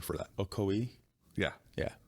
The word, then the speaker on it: Ocoee: Ocoee? Yeah. Yeah. It's Ocoee. Yeah. It's the correct pronunciation.